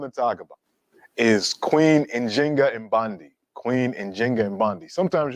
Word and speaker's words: Njinga: modern scholarship has shown the more correct way to pronounce her name and in Kimbundu, the language that she spoke is with the J. So it's Njinga, and Bandi, but you'll also see Nzinga.